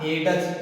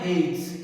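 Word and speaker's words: hedge: आगे वाला देखो एच ई डी जी ई, अब जी है और जी से पहले क्या है डी है, इसका मतलब हम डी को अब प्रोनाउंस नहीं करेंगे, इसको ऐसे मत पढ़ना हेडस, ऐसे नहीं होता है, हेडस भी होता है नहीं। अब देखो इसको क्या पढ़ना है हेज, क्या पढ़ना है हेज।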